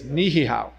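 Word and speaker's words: Niʻihau: So all the way to the farthest left is Niihau, properly pronounced, by the way.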